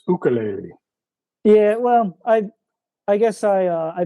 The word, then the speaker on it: ukulele: And so I figure I should try to pronounce it like the native Hawaiians do.